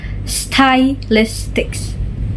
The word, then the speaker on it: stylistics: Syllabification in spelling is stylistics and the syllabication in pronunciation is stylistics. The first syllable of the spelling is style. It's how we write it style. But the first syllable of the pronunciation is sty.